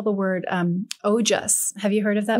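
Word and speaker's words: ojas: call the word um oh just have you heard of that no how do you spell it o j a s oh okay and i i really feel like it's similar to mojo you know oh jess i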